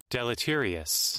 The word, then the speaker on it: deleterious: how do you pronounce this? Deleterious? Deleterious.